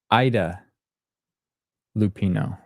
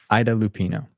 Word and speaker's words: Ida Lupino: kind of a remastered thing Nell says it's pronounced Ida Lupino thank you not AA as I said Ida Lupino that's why I like your comments thank you